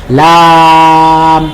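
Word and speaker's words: لام: এই জন্য লাম অক্ষরের নাম আমরা যখন উচ্চারণ করব, তখন আমাদেরকে 4 আলিফ টেনে উচ্চারণ করতে হবে, লাম।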